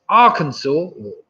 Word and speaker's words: Arkansas: Number 4, the 2 US states that have a name ending with a silent letter. I'll give you half for each. It's Arkansas and Illinois.